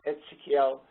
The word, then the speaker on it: Ezekiel: Prophet Ezekiel speaks in, it's pronounced Ezekiel, speaks in similar terms, enlisting obligations that people